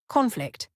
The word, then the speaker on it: conflict: Conflict, noun versus conflict, verb.